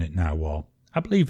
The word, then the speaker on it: Nahvalur: the new spelling of it but they're still pronouncing it now well I believe it's Icelandic for now well and